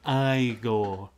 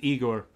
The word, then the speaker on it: Igor: It's pronounced Igor. Oh, I thought it was Igor.